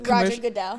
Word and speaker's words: Goodell: You've worked with a lot of notable figures, such as Roger Goodell, which is the Roger Goodell.